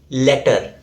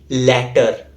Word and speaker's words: latter: Next we have latter. It refers to the second of two things mentioned. So the A is pronounced as a, as in cat, mat, bat. So the correct way to pronounce this word is latter, not letter.